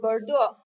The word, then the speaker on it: Bordeaux: master's degree in Enology from the University of Bordeaux. He started his career by working at Denis, a very difficult pronunciation.